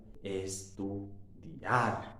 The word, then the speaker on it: estudiar: una vocal abierta juntas, pero el acento fuerte está en la vocal abierta. Estudiar. Si estuviera en la vocal cerrada, en el caso de la I, deberíamos usar la tilde. También serían dos sílabas diferentes. Estudiar.